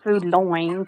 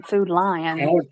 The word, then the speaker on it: Food Lion: doing it the right way, not Food Loin, Food Lion.